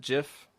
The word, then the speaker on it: GIF: You can tell me you just always have pronounced it Jiff.